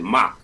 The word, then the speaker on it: Mach: I like Match Homie. You know, he don't get a lot of. It's like Mach though. You pronounce it Mach, like Mach 3.